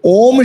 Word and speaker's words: ओम: तो वो बोले इसमें ओम में 3 शब्द है, आ उ और म।